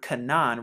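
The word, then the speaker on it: חנן: you get the word kanan right here because it has the k sound right here and then the two noons right here to get kanan kanan kanan when putting it together and also for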